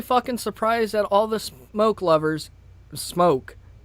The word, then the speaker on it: SMOK: You know, I'm really fucking surprised at all the smoke lovers. Smoke. It is pronounced smoke. I figured this out. It's not smock. Smock kind of sounds stupid when you think about it.